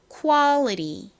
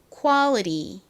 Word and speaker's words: quality: 어에 가깝게 발음이 났잖아요 그런데 미국식 발음에서이 A 아에 더 가깝게 소리가납니다 그리고 tl 티로 발음하지 않고 좀 꼬아서 리처럼 발음해요 그래서 어떻게 발음을 하냐면 Quality Quality 이렇게 발음을 합니다 한국식으로는 Quality 그리고 미국식으로는